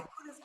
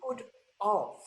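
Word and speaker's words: could've: a very strong risk that they're going to misspell it the correct because it's a contraction of could have I could have danced all night but if you say I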